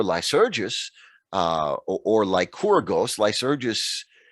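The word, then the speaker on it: Lycurgus: uh or lycora ghost lice urges uh is the more common english pronunciation and spelling you'll see like corgos in the mcinerney text which is more authentically greek and it's not entirely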